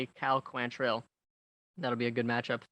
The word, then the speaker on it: Quantrill: I believe it's Quantrill. That's how they were pronouncing it.